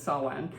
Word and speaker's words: Samhain: Because it's spelled Samhain. Yeah. Yeah, it's Samhain.